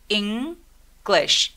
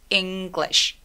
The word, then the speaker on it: English: 얘 음절 몇 개일까요? English 아니고 English 이 하나하고 I 모음 두 개밖에 없어서 얘는 이 음절 소리예요. English, English.